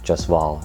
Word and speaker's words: Jaswal: manager lamar um lamar jaswal i mean well the actual like brown way to pronounce it is lamar just wall or joshua but anyways um he